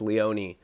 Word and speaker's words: Leone: Everyone always pronounces my name wrong. It's Leone. Yeah, Leone, he's like some white boy.